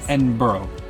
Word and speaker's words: Edinburgh: When you look at Edinburgh on the map or you look at how they spell it, it looks like Edinburg. It does to our American, but it's not. It's Edinburgh. Edinburgh. Edinburgh. They They say it really fast and low.